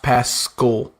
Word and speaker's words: Pascal: It's like Paschal, but it's pronounced Pascal.